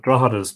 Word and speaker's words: Drogheda: There's a G in Drogheda, but Drogheda never gets the G pronounced. But not anybody who hasn't been always says Drogheda.